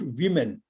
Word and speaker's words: women: It is pronounced women.